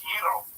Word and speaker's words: gyro: And it's pronounced Euro.